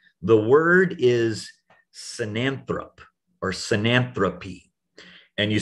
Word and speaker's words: synanthropy: The word is synanthrop or synanthropy. And you spell it synanthropy, or it can have an E there if you're talking about the critter.